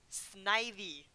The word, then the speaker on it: Snivy: calling Snivy Snivy it it's snake and IV Snivy like what what the